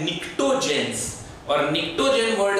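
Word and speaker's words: pnictogen: जाता है, are commonly known as निक्टोजेन। इसमें पी साइलेंट है, निक्टोजेंस, और निक्टोजेन वर्ड का मतलब होता है poisonous substance, okay?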